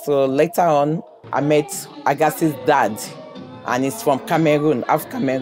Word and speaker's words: Agassi: I feel like Agassi is the right way where the tennis player pronounces it. But my mom, because she's African, she says Agassi.